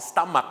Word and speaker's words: stomach: นะ ครับ My stomach อย่า ลืม ท้อง ออก เสียง stomach นะ ฮะ My stomach feels Funny